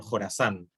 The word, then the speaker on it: Khorasan: Pero bueno, la K es por Jorazán, que no tiene mucho sentido en español, pero Jorazán en inglés se escribe como KH.